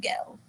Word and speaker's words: girl: There's a good gal." Gel was the way he pronounced girl.